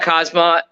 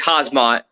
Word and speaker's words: Hazmat: Here's the thing about Kazmat. Well, it's Hazmat. We got to pronounce his name right because he might come murder us.